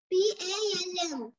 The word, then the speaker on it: palm: P-A-L-M. Repeat it. P-A-L-M. What is the pronunciation?